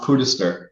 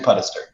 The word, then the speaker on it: Puddester: times so uh usually it says it's it's pronounced pootister where people don't know it but it but it's actually pedester so but happy to be here with you